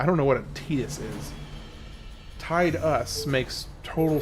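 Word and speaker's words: Tidus: saying uh you know it's pronounced Tetus, right? And I was like, "Yes, I recognize the council has made a a decision, and given that it's a stupid decision, I've chosen to ignore it.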